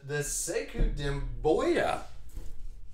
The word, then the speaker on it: Sekou Doumbouya: All right, so I'm telling you what, the banger was the Sekou Doumbouya. That's how you pronounce it.